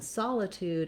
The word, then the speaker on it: solitude: letters here we have the sol in solitude has the ah ah vowel sound so visualizing it that